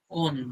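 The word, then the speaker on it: -one: ওনের বানানটা দেখতে কিন্তু ওয়ানের মতো লাগবে, বাট অ্যাকচুয়ালি উচ্চারণটা হচ্ছে ওন, ONE।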